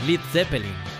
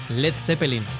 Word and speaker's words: Led Zeppelin: Un Led Zeppelin. A Page le gustó la idea, pero eliminó la A de Led para evitar una pronunciación incorrecta.